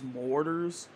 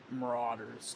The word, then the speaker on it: Marauders: actually last game is mortars or Marauders Marauders that's how you say it Marauders it is a game